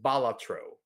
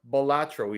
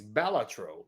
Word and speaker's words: Balatro: heard that it's pronounced balatro so balatro means kind of like Jester or fool in Latin so it's not batro it's balatro that's what I here